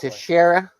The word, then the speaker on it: Teixeira: Yeah, well, that's how I pronounce his name because the baseball player pronounces it that Teixeira.